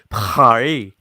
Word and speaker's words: Paris: They say Parry. Sounds like they're saying Harry.